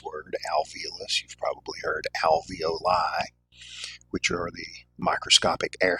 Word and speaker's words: alveoli: You've probably heard alveoli, which are the microscopic air sacs in the lungs. Um, some people mispronounce it as alveoli, which sounds more like something you would buy from Chef Boyardee.